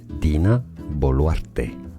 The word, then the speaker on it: Dina Boluarte: In Spanish it's said as Dina Boluarte.